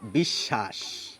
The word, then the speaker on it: বিশ্বাস: একটি বি লাগিয়ে দিই তাহলে এই বফলাটি মাঝে চলে যায় তাহলে দেখুন উচ্চারণটি সম্পূর্ণ বদলে যায় কি হয় এই ব ফলা যার সঙ্গে যুক্ত থাকে সেটি দুবার উচ্চারিত হয় আমরা বলি বিশ্বাস এখানেও কিন্তু দেখুন দন্তস